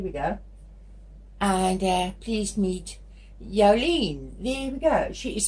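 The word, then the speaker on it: Jouleen: Now, normally it's easier to say Jolene, English Jolene, but her name is pronounced Jolene, and it's J-O-U-L-E-E-N, Jolene.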